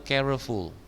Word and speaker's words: careful: Jadi 2 syllable. Banyak saya dengar yang 3 jadi careful, salah.